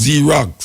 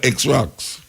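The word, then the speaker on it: Xerox: Them say what's Z-Rocks instead of X-Rocks. You know, it's confusing. You see an X, you don't pronounce it X, you pronounce it Z.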